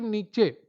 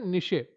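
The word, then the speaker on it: niche: निशे इसको जो उच्चारण है सही उसका है निशे। तो यहां पर नीचे इन्होंने हिंदी में उच्चारित कर दिया है। च को के पढ़ दिया है।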